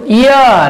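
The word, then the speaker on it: heir: অনুচ্চারিত থাকে, অর্থাৎ কি এইচ এর উচ্চারণ যদি সাইলেন্ট থাকে, উচ্চারিত না হয়, আমি শব্দ লিখছি, খেয়াল করো। যেমন আওয়ার, অনার, তারপর কি অনারেবল, ইয়ার। প্রিয় শিক্ষার্থীরা খেয়াল করে, এটার উচ্চারণ কিন্তু ইয়ার।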